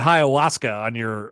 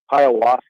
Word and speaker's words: ayahuasca: Ayahuasca. Well, that was your best one yet. Okay. So think Hiawatha, but it's ayahuasca.